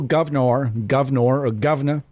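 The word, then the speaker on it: Guv'nor: Now, a Marshall Governor, as there's GUVNOR is how that particular pedal is spelt.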